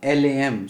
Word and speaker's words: LAM: So when you look at Muladhara chakra, its mantra is LAM, L-A-M. So you have to pronounce it like this, LAM.